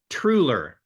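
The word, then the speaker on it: Truhlar: name properly TR uh trer the H is silent the a sounds like an e it's a czechian word that means basically Carpenter or woodworker okay so it's say it again trer trer okay trer so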